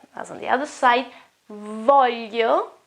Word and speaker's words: voglio: Voglio, which is the verb volere, want, volere, has got this sound here, y.